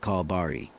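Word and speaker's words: 콜바리: In Korea, freelance truck drivers like me are often called Barari, pronounced Kalbari. The name comes from the word call, referring to how we pick up delivery jobs through a mobile app.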